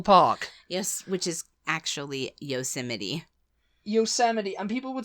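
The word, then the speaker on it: Yosemite: always I whenever I read it I'd always pronounce it yosmite yosmite yosmite it's yosmite the national park yes which is actually yosity yosity and people would say yosity and I'd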